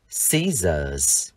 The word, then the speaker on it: scissors: Và trong từ cái kéo, chúng ta sẽ đọc là z, scissors.